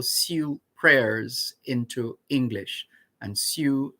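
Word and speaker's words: Sioux: prayers into english and su is spelled s i o u x so we started with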